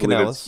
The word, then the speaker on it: Canales: Canales. I cannot pronounce his first name. A lot of people call it eBay, but I eBay, don't think that's correct. I eBay believe it's Canales, eBay.